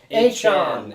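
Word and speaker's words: Achane: could we all not have guessed this Devon a Chon have you guys heard that his name is actually pronounced hey Chan all right I mean how much cooler is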